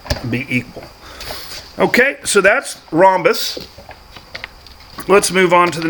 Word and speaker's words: rhombus: square is both a rhombus okay silent h don't forget the sound h i always do and